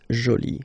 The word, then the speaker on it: jolie: you put this uh but then you don't pronounce it okay so it's Jolie so basically the two adjectives masculine Jolie and